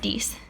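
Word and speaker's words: dix: for ten as well even though it looks like it should be said differently it's actually pronounced dies so those two numbers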